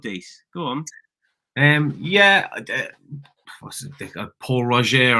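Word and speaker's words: Pol Roger: Paul Roger, I think is how they pronounce it.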